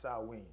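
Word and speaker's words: Samhain: the ancient Celtic Festival of saman Sam it's pronounced swe swe when people would light bonfires and wear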